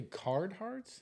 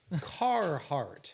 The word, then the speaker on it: Carhartt: Carhartts? Yeah, the full body. Carhartt. There's no What'd I D say? There's no involved. D, dude. Carhartt.